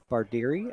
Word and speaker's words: Bardieri: BARDIERI, I believe his last name is pronounced.